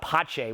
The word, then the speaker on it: Pace: But you have restaurants where, like some like, I think it's spelled Pace, P-A-C-E, but Pache, which is down the hill from here, that is a very unique restaurant.